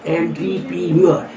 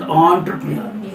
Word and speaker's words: entrepreneur: Entrepreneur. But pronounced as entrepreneur.